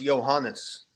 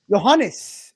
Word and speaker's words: Johannes: Yeah, so it's pronounced Johannes. Johannes. Yeah, Johannes.